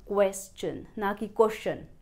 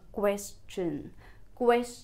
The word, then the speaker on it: question: shun like communication pronunciation but it is an exception, here the TION, it will not produce the sound shun but will produce sound chn. And The first syllable will be read as Kves I would like to